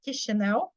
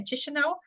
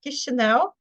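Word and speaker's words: Chișinău: you also say the capital of mova is pronounced kisho H because sometimes people say chish so the correct name is kisho and also the country is called mova I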